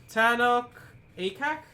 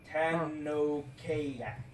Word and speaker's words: Tanokak: Tanok Akak? It's TANOKAK. It's all one word. Tanokayak. Wait. Tanokak. Yes. Tanokak? Yeah. Oh, Okay. Tanokak. Yeah. I was like, where is he getting these extra syllables?